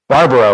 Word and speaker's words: Barbaro: We got Gino, and the last name is pronounced Barbaro, right?